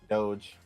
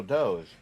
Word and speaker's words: Doge: Brian Becker called it dog. And I was like, I have been on the internet too long to where I got upset when he mispronounced Doge. Yeah, I was like, oh, Doge, man. No, he said dog.